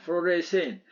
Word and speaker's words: fluorescein: 발음을 fluoresce인이라고 합니다. fluorescein.